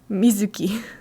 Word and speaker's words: Mizuki: It's not Mizuki, it's Mizuki. It's not a long U. Mizuki. Even just Mizuki. Like, you barely hear the zoo, really.